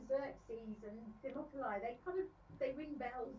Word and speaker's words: Xerxes: mountain pass against Persia, King, and I can't pronounce that, Xerxes, Leonidas, nonetheless prepares for battle. Xerxes.